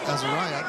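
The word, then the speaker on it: Azariah: Azaria. Cottrell is coming up next, so let him know. How's it? And I was told that's how we say her name. It's spelled A-Z-A-R-I-A-H, Azaria, but they want us to say Azaria.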